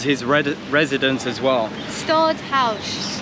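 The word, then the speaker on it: Stadthuys: here it was his red residence as well stodd house stodd house um that's how you pronounce it Tash just looked it up on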